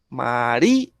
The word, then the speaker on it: María: ¿Dónde tiene el acento? En di, ¿cierto? María.